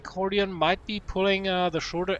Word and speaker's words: Hordeon: See, his name isn't actually pronounced Hordeon, it's Hordeon.